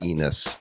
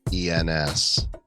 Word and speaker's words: ENS: oh oh Trav it's it's not pronounced Enos it's ens I was just really